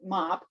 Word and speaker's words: MAP: Amazon Project, or MAP, although I think they pronounce it MOP.